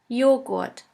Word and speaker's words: Joghurt: The letter J is pronounced like the Y in the word yogurt. The German translation for yogurt is Joghurt. Joghurt.